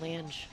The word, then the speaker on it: Lange: it, Vinny Campos, Adrian Lang, and Mark Akbar. It's Adrian Lange.